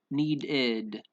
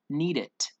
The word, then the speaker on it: needed: did one did it needed needed we don't pronounce it need it or need to just needed know it's needed right